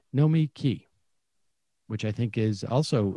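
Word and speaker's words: Nomiki: so this guy said n-o-m-i capital k-e-y know me key which i think is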